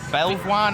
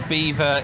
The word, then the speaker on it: Belvoir: Belvoir next, or Beaver, if that's how you pronounce it.